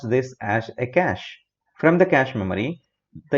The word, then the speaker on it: cache: cache memory whenever you're pronouncing it we simply pronounce this as a cache from the cache memory the information will be